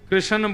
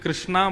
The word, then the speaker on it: कृष्ण: लाल की जय बंधुओं कई लोग इस नाम को अशुद्ध बोलते हैं कई लोग कृष्ण बोलते हैं कई लोग कृष्ण बोलते हैं कोई कृष्णा बोलता है भगवान का नाम शुद्ध उच्चारण करो नाम क्या है कृष्ण भगवान जय श्री कृष्ण